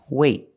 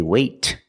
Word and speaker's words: wait: don't release example wait wait I don't say wait I don't release the T it's a stop T I stop the air